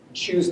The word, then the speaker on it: shuhari: Shu's nice, rhymes with shoe.